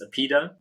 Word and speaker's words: APIIDA: And by the way, the company name is pronounced APIIDA with a long I.